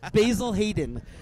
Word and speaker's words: Basil Hayden: saying that or a little blue dream bourbon basil Hayden that's how it's pronounced fritz from our man from princess polka